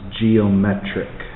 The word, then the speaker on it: geometric: Just like this is geometric, with the emphasis on met.